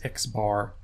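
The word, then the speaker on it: x̄: what it looks like the way you say this is X bar X bar equals the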